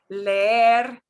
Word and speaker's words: leer: It would be creer, leer. No, it's leer, creer.